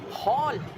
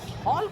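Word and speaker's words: hall: हाँ का प्रोनाउंसिएशन तब आएगा जब आप वर्ड में आओगे। History, हॉल। अब देखो ये जो हरियाणा तरफ वाले, ये हॉल को होल बोल देते हैं, और ये जाता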